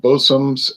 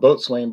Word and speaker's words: boatswain: label bosum boat swain it's spelled boatswain but they pronounce it bosom by just maritimers running the word together boat swain would be